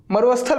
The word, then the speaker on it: मरुस्थल: इसको पढ़ेंगे, अधिकतर लोग इसको पढ़ते हैं मरुस्थल, मरुस्थल पढ़ते हैं, जबकि ये मरुस्थल नहीं है, मरुस्थल नहीं है, यहाँ पर अ थोड़ी लगा है, मरुस्थल है, मरुस्थल, मरुस्थल नहीं।